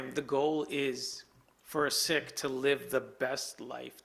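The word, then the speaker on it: Sikh: it's a good question I cringe when someone calls it seek right um by letter and term it's it's actually sick and it's derived from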